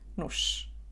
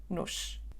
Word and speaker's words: nos: Essa palavra não tem o acento em cima da letra O, o que quer dizer que a letra O não é acentuada e tem o som reduzido. Pronunciamos a letra O como U, nu, e depois disso temos o som sh, nos, nos.